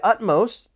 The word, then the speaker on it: utmost: It's not the most commonly used adjective, but there are 2 syllables and the stress is on that first syllable.